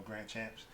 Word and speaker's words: Grandchamps: Grandchamps. The real pronunciation for that is Grandchamp. Yeah, word. But yeah, I mean, I've Americanized it, so it's Grandchamps.